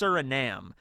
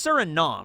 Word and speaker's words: Suriname: I used to think it's pronounced Suriname. It's Suriname, right? Like, that's the correct pronunciation.